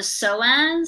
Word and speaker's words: psoas: is this weird muscle called the psoas silent t but if you take